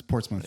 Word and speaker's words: Portsmouth: That's Portsmouth. Yeah, nice. Okay, good. PORTS. Not mouth.